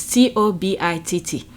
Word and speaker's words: Tobitt: Sorry if I pronounce her last name wrong. It's Tobitt.